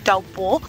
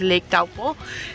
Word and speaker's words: Taupo: इतनी बड़ी लेक जो आप मेरे पीछे देख रहे हैं इसका नाम है लेक टाउपो। पहले हम इसे टाउपो बुलाते थे but actually the correct pronunciation is लेक टाउपो।